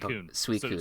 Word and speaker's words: Suicune: I'm so bad with Suicune. So Sui, like the first part of sweet. Yes, and then Coon, the second part of raccoon.